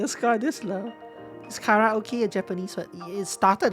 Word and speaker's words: karaoke: Carrot, Karaoke, yes. Kara. The R is actually on the second, is start on seconds of on the second syllable. But yeah, it's K.